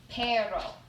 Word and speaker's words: perro: dog in spanish yeah perro i think i remember that actually can you say it you're supposed to roll your r i can't really do